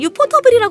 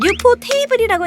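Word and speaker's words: ufotable: 알아볼 애니 제작사는 유포테이블 사실 유포터블이 많이들 하는데 유포 테이블이라고 읽는게 정확한 제작사 명입니다 포터블은 사실 우리나라에서만 그렇게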